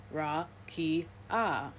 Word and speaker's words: rakia: In the Hebrew Old Testament, the word used for firmament is rakia, pronounced ra-ki-ah, meaning extended or solid surface or flat expanse, considered to be a hemisphere above the earth.